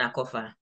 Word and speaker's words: Akorfa: How do I pronounce, by the way, the two names? Yes, Selasi and Akorfa.